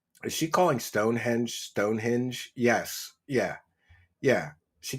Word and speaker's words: Stonehenge: She doesn't say Stonehenge. I've heard her many times say Stonehinge, you know?